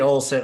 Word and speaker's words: Olen: Andy Olsen, have I been saying your name wrong?